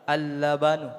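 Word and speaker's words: اللبن: Albanu baridun. Nah, apa ini? Apa Pak? Nah. Apa bacanya? Alban. Coba tutup alif lamnya nih. Tersisa lam. Laban. Kasih alif lam. Al-labanu.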